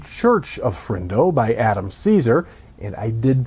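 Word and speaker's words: Cesare: cornfield 3 the Church of fro by Adam Caesar and I did pronounce that correctly it's not chz it's he pronounces it Caesar anyway that book comes out on August 20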